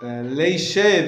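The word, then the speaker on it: לישב: So leishev is the way it's pronounced in the bracha.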